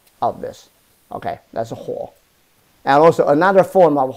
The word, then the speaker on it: 火: Okay, that's a huo, and also another form of huo.